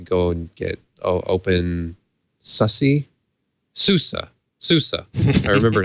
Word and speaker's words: SUSE: Debian you can go and get open SUSE Susa Susa I remembered how to pronounce that but yes there are little gamers